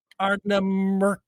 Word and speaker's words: Ardnamurchan: Ardnamurchan. Can we emphasize the con at the end, like Shatner?